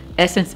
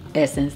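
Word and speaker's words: Ssense: now it's so funny because Essence is spelled SS e n s e and so when I hear Essence I'm always thinking about Essence magazine not Essence the high-end retailer now let's talk about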